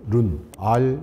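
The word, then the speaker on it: 润: 합니다 아 이거를 이제 중국에서는 룬이라고 그래요 룬 ru n 룬이 뭐냐면 윤기가 난다 할 때 윤 자를 중국어 바르면 눈인데 주윤발의 그 윤이기획 발음인 룬이 그러니까이 말을 왜 쓰냐면 련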